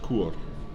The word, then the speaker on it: kore: But the king or the queen, but at least the ruler, is written Kore, and we know it's pronounced Kur.